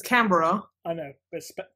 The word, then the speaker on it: Canberra: I mean, your capital city is spelled Canberra. It's Canberra.